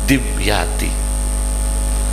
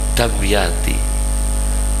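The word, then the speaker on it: الدمياطي: Orang Jawa bacanya Dimyati, sebetulnya Damyati, tapi sudah terlanjur apa? Dimyati.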